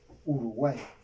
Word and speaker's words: Uruguay: Recuerden que la Y al final suena como I.